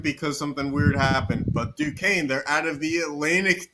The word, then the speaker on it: Duquesne: is the duck Duke and I can't even pronounce that oh it's Duquesne yeah I do Duquesne Dukes okay all unions